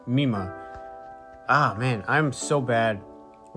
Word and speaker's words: Mima: So I mispronounced the name. It's Mima.